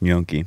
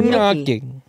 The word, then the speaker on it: gnocchi: You added another syllable. Gnocchi. He is so wrong.